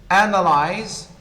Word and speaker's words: analyze: As we have seen, analyze, first syllable.